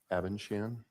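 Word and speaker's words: Abendschan: record um my name is or avenshan uh last name is spelled a b e n d s c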